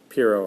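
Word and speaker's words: Pyrrho: just don't believe anything uh is how it's pronounced yeah piero of ellis p y double r h oh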